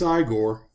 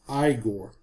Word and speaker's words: Igor: F pronounce his name Frankenstein, he then insists that his name is pronounced Igor. You must be Igor.